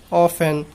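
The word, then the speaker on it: often: अब टी, जब एस एफ के बाद टी आता है तो टी साइलेंट होता है। एग्जाम्पल जैसे लिसन, ऑफन, हैसन।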